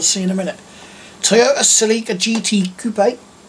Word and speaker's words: Celica: Toyota Celica GT Coupe, or Celica, which is how I've heard many Americans pronounce it, as Celica. I prefer Celica myself.